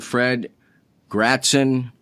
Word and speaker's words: Fred Gratzon: Today's guest, speaking of easily, and I've had to track this fine young man down, Fred Gratzon. Did I pronounce that correctly?